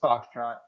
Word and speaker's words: Fauxtrot: It is pronounced Foxtrot.